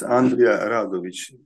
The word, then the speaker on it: Andrea Rovic: always do that okay yes Andrea rovic is correct pronation of my name I want to stress